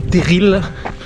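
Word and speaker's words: terril: on arrive bientôt TER alors ça sécrit teril dans le Nord on prononce TER mais les deux se disent pour ceux qui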